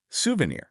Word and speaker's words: souvenir: Souvenir. This one often trips people up. It's souvenir. Souvenir. The stress is right at the end.